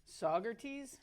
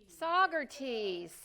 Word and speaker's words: Saugerties: There, how do you pronounce that, Debbie? Saugerties? Okay. Saugerties.